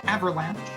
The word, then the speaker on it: Avalanche: I just need to point out, we've been mispronouncing the terrorist organization's name. It is Avalanche. That is Avalanche. Avalanche. Yes. I always thought that said like avarice, but yeah, it's Avalanche.